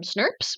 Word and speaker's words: snRNP: abbreviated to snrnp but biologists just agreed to pronounce them snps which is very cute and I'm a big